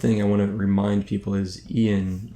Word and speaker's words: Ian: to remind people is Ian, I pronounce it Ian, I don't know if it's like I-O-N, but Ian, he was a hardcore vanilla raider.